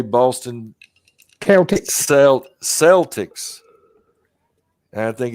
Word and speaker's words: Celtic: say it now they say boston county sell celtics i think it's correctly pronounced with a k a hard cape but